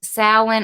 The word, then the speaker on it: Samhain: Sam is actually spelled like Samhain but it's pronounced salan I've heard it pronounced so in but it's the majority is salan or someone I am doing research this year